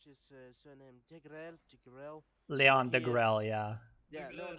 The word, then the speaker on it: Degrelle: I do remember there was something that when Leon Degrelle, how do you pronounce his surname? Degrelle.